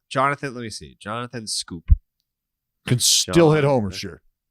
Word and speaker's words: Schoop: Jonathan Scoop. Can still hit homers, sure. Jonathan, hold on. Let me see if I know how to spell it. It's SCHOOP. Correct. Yeah. Jonathan Scope hit 22 bombs last year for the Detroit Tigers.